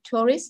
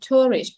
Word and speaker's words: tourist: sẽ giảm âm xuống mình không đọc là Tourist mà là Tourist nhấn chọc âm đầu tiên và âm thứ hai em giảm xuống và hạ dọng cho câu số nha Em